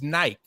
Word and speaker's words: Nike: It's the real name of Nike is Nike. You know what I mean? So when it was a running shoe. So when it first came out, like people pronounced the name wrong, but it's Nike, and people were like,